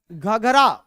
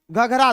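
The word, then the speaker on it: घाघरा: लखनऊ बसा हुआ है घघरा घघर ना कह के घघरा सॉरी प्रोनाउंस गलत हुआ घघरा ठीक है घघर मत करना घघरा घगरा इसी घगरा को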